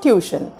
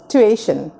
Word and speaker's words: tuition: It's not tuition, it's tuition. TUI, একটা twist হবে.